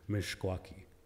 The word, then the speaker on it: Meskwaki: elders pronounce you know they get upset when if anybody pronounces it Meskwaki because they say the proper pronounce pronunciation pronunciation is mich quacky the Sun people okanagan